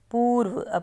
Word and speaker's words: पूर्व: है ये अशुद्ध है पूर्व पूर्व में बड़े ऊ की साउंड को लंबा टाइम लगा के बोल रहे हैं तो बड़ा हु आएगा इसी तरह से सूप